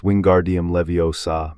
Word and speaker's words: Wingardium Leviosa: It's Wingardium Leviosa. Make the gar nice and long.